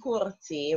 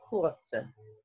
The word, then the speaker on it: courte: But we're not saying courté. We're saying courte. We're just pronouncing the T.